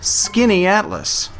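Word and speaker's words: Skaneateles: The name is pronounced Skinny Atlas.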